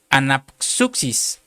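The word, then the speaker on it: ἀνάψυξις: la número strong 406 que se pronuncia anapsuxis. Anapsus. Es que está difícil porque tiene una S y una X, hermano. Anap suxis, que quiere decir recuperar el aliento.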